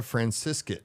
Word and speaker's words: Francescut: Francescut. Yep. Did I say it right? Yep. Rhymes with biscuit.